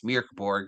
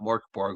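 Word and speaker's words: Mörk Borg: Because again, it's Mirborg, not Morborg. We've been saying it wrong.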